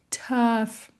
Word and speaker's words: tough: Ã, e baixa bem a mandíbula. Tough. Tough. Então não é a mesma coisa que o nosso A.